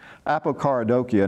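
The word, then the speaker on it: apokaradokia: a pokhara dokey oh I'm sorry it should pronounce that a Picardo Kia now if the prefix hypo means away from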